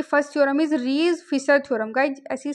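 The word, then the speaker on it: Riesz: आज की first theorem is रीज Fisher theorem. Guys ऐसी साइलेंट हियर।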